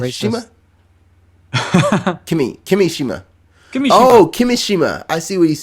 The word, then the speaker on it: Kimishima: Kimishima. I see what he's saying. Kimishima. See, it goes up. Kimishima. Kimishima. It's like a roller coaster.